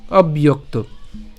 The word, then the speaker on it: অব্যক্ত: তাহলে সব ইয়ো তাহলে এই জ ফলের উচ্চারণ যেহেতু ইয়র মত হবে তাহলে ইয় এবং তার সাথে এখানে একটু খেয়াল করুন এখানে যুক্তবর্ণ রয়েছে ক এবং ত ঠিক আছে তাহলে আমরা ইয়োক পর্যন্ত যদি উচ্চারণ করি হ্যাঁ এখানে ইয়ক ইয়ক এবং তারপরে কি থাকে ত ঠিক আছে ইয়োক আশা করি এতটুকু পর্যন্ত আপনারা বুঝছেন আমি আবার বলছি অবয়ক্ত তো এটা অবশ্যই আমরা একসাথে উচ্চারণ করব একসাথে উচ্চারণ করলে উচ্চারণটি কেমন হবে অব্যয়ক্ত ঠিক আছে এরপরে অর্ধমাত্রার